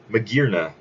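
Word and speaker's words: Magearna: spider-man oh we also got more news on Medina yes that is how it's supposed to be pronounced it is the artificial Pokemon it is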